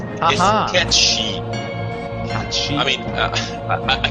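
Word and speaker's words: Cait Sith: Well, I can talk shit on Kate Sith, because his name is actually Kate Shit. Got it? Oh. Ha! It's Haha. catchy.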